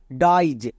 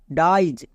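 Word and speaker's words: dies: চার নম্বর word প্যাটেন আই ই এস এর উচ্চারণ হয় আইজ অনেকে একে ভুল করে উচ্চারণ করে আইস কিন্তু আইস উচ্চারণ করা চলবে না আমরা এই ভুলটা করবো না যেমন দেখো ডাইজ এখানে আই ই এস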